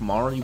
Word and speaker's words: Mari: and overall perfect person whose name is definitely pronounced Mari but I'm going to keep saying Mary and you can't stop